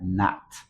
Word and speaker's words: not: Más este adverbio, esta partícula que se pronuncia not, ¿sí? Esta O tiene como una caída de A, ¿verdad?